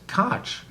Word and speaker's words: Koch: C right and some are going to say Coke and some are going to say C why